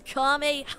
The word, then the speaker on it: Kamehameha: Dude, you're not even saying it right. It's Kamehameha.